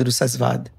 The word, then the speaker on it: Rusaasvaad: তার মানে হচ্ছে বুদ্ধের যে এনলাইটেন্ড নির্বাণের সময়কার যে মুহূর্তের যে স্টেটটা, সেটা মূলত শব্দটা উচ্চারণটা ডিফারেন্ট, উচ্চারণটা ভিন্ন। এটা হচ্ছে রসাদ, রাসাসওয়াদ। কিন্তু আমি যেহেতু রুসাসওয়াদ শুরু করেছি বলার সবাইকে ইনস্টেড অফ রসাদ বা রাসাসওয়াদ, কারণ ওইগুলোতে কোনোটেশনস ছিল সার্টেইন ল্যাঙ্গুয়েজের।